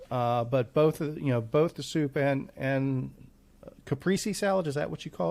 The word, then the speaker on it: caprese: And I hate to use the most pretentious pronunciation for things, but the way I understand is it's supposed to be caprese, but it sounds so fussy. So let's call it the Chevrolet Caprice salad. So the Caprice.